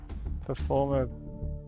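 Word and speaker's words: Performapal: case it would be performer pals performer that's how it's pronounced at least um so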